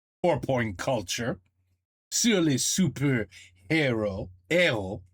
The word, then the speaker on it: héros: Hero. You don't pronounce the H, right?